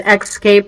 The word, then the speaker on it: Xscape: you with that and when he says xscape it's the letter x EA AP e okay right absolutely most